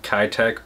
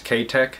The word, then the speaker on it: Keitech: my area that sells kai tech or k-tech if you're from japan i know in the us we pronounce it kai tech but i guess technically it's ktek and my kai-tek swim